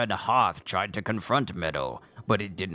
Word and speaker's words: Medoh: So it's a strong med, but a short O. So is that the way it's said? Divine Beast Va Medoh. Not Medoh, but Medoh. As if I'm saying the word meadow. Like a field, a meadow of flowers.